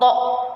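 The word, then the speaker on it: ط: Kemudian huruf berikutnya yaitu huruf to. Ya, to cara bacanya atau cara pengucapannya yang pertama tempelkan permukaan lidah bagian ujung pada akar dua gigi seri bagian depan.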